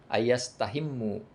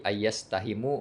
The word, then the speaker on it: ayyastahimu: Kecuali mereka mengundi pada sof pertama dan pada azan, bitahfifil mimi, dengan meringankan huruf mim, ayyastahimu. Jadi ayyastahimu bacanya. Aturan ayyastahimu. Karena diringankan mimnya, ayyastahimu.